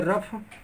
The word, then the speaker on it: rough: जब जीएच शब्द के अंत में होता है तो इसका उच्चारण फ होता है।